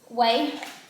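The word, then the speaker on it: Ouai: How do you pronounce the brand name? Way.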